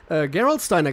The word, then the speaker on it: Gerolsteiner: people send us over and the first one Gerolsteiner Chris you know Gerolsteiner to her course gavage